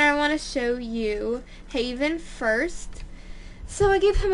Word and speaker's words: Jevan: looked it up and Google Translate pronounced it Haven. So that's how I'm gonna say it.